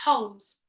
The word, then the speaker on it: Holmes: So it's not Holmes. It's Holmes. It's a silent L, isn't it?